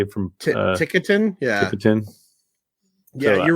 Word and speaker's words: Ticotin: Yeah, Ticotin.